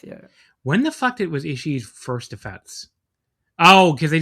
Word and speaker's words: Ishii: It's a long E, but it's just Ishii. Like you don't like pronounce another E sound. You know what I'm trying to say? Like you don't start another. It's like just holding the E.